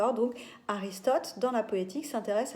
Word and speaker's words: Aristote: L'auteur grec qui va poser les fondements de la tragédie, au 4e siècle avant Jésus-Christ, c'est Aristote, comme ça se prononce, A-R-I-S-T-O-T-E, dans un ouvrage qui s'appelle La Poétique.